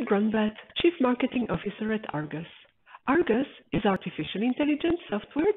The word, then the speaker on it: Ai-RGUS: We pronounce Argus as Argus and keep the eye silent.